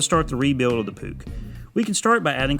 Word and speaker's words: Puch: a bit last time it's pronounced puke like duke as an english royalty or the university except for the p it's now time to start the rebuild of the pook we can start by